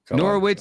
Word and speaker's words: Norwich: Norwich is how it's pronounced in the United States.